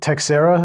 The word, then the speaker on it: Teixeira: And the arrest of Jack Teixeira, is that how we pronounce his name, Patrick? Yeah.